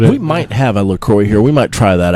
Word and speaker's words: LaCroix: It's actually pronounced LaCroix. Oh, is it? I don't know. Oh, I thought it was LaCroix.